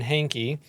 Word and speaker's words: Hainke: guest we're all excited about uh Trooper hanky and that I pronounced that correctly right you got it Hank